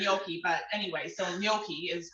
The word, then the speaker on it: gnocchi: just feel weird saying yoki but anyway so gnocchi is how it's pronounced and um gnocchi it says how i